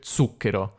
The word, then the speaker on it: zucchero: allora io ho messo la parola zucchero che io almeno secondo la dizione ufficiale si legge su quero ma nessuna delle persone che mi hanno mandato i file ha detto zucchero hanno detto tutti zucchero non so interessante mi chiedo se qualcuno dica davvero zucchero oppure sia solo una cosa così della dizione ufficiale allora la frase questo